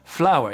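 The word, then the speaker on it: flour: c'est de la farine et oui ça se prononce exactement pareil mais ça s'écrit complètement différemment flower flower écoutez bien il y a aucune aucune différence répétez après moi flower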